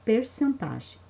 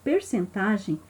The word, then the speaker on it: percentagem: é porcentagem Olha só muita gente tem dúvida da forma correta de pronunciar se é porcentagem ou percentagem as duas formas estão corretas porcentagem ou percentagem ela é uma área